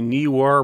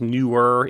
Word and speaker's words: Neewer: This time it's on the Neewer, maybe it's pronounced Newer, Neewer brand light LED light panels.